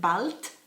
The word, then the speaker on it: bald: no hair uh but in german you pronounce it balt and it means soon yep so absolutely no